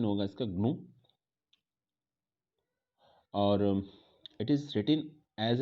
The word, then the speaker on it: GNU: पहले तो इसको GNU नहीं, प्रोनाउंसिएशन इसका GNU नहीं होगा, प्रोनाउंसिएशन जो होगा इसको ग्नू होगा। Wait a minute, now यू can easily C on screen, या इट is pronounced as ग्नू।